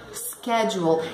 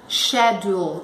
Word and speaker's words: schedule: Schedule. Existe a pronúncia schedule também no inglês britânico, ok? No americano é schedule, que quer dizer horário, agenda.